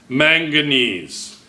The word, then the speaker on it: manganese: Manganese. Manganese. Manganese. Manganese, I'll help you. What's O? Oxide. There you go. Oxide. Did you say oxide? Excellent. Oxide. Manganese oxide, right?